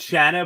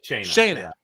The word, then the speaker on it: Shanna: How did she say it? I originally thought Shanna, but I feel like I heard Julie say Shayna. Shayna. That's what it was.